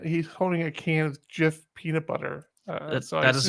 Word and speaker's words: GIF: of the jif pronunciation i think i said gif i think that's what i say because that's correct gif yeah because it's it's like a gif it's graphic interchange format graphic jiff jif the peanut butter is pronounced jiff gif is gif is there is there a word where the g makes a a j sound i don't know well